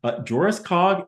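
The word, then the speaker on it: Jöreskog: in 1976 by, and here pronunciations vary, here's mine, Joriskog and Sorbum. So LIST Rule 3 in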